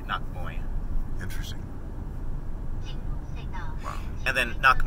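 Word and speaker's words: นักมวย: And so the way Thai people pronounce it would be nak moy.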